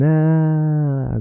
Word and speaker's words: är: So every time you see är, you wanna stretch and say den är där borta, and people are gonna be like, how the hell do you know this?